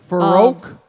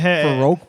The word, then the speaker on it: Farrokh: Farouk Bulsara. Wow. Yeah. Pronouncing it it's- correctly? it's Farro. Yeah. Farrokh.